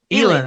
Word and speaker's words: Elin: Elin is how she pronounces it.